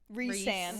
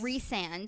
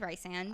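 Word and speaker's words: Rhysand: you you meet this guy named I it's pronounced reand reand so I'm going to say Reese in my head I read it as Rand I also read it as as Rand she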